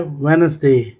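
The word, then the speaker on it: Wednesday: सबसे पहले हमारे पास जो वर्ड है ये है वेडनेसडे, ये डी इसका साकिन हो जाएगा जी, साइलेंट लेटर आ गया जी।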